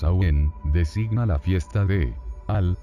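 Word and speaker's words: Samhuinn: que en gaélico escocés samuín pronunciados awén designa la fiesta de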